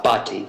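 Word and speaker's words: Bhatti: Uh, Bati is my last name.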